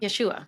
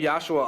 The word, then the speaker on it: Yashua: Yeshua. People say Yosua a lot and I don't even hear the difference.